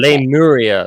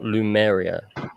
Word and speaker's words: Lemuria: Lemuria, not Lumeria. Excuse me, you have an accent, okay? Lemuria, like it's Lemu.